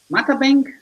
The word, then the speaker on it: Matabang: And Matabang? Matabang? How do I pronounce it? So the supposed correct pronunciation is Matabang, but Matabang.